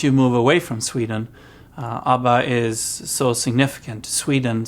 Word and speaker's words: ABBA: So in Sweden we call it ABBA. That's the name, how we pronounce this, ABBA, versus in the rest of the world is ABBA.